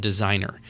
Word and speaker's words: Designrr: be, for an example, there's a tool called Designer. And it's spelled weird. It's DESIGNRR. But it Hey, I grew up in Kalinga. That's how we spell Designer.